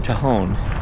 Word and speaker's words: Tejon: So I know I've been saying the name wrong, Tejon.